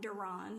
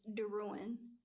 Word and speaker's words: Darin: pronounced my name wrong my last name is not donon it's Darin she spelled it wrong